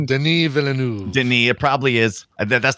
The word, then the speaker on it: Denis Villeneuve: It's Denis Villeneuve.